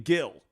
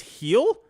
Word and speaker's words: Gil: I've never actually seen I was saying Gil I've never actually seen him pitch like on TV I I guess I'm saying it wrong it's heel oh I apologize I